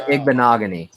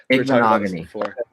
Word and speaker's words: Igbinoghene: Noah Igbinoghene.